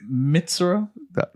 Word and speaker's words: Mitsuru: Mitsuru.